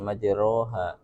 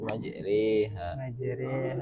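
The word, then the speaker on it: مجراها: Ya, kita bacanya bukan enggak mursaha cuma di majriha bukan majroha tapi majriha wa mursaha.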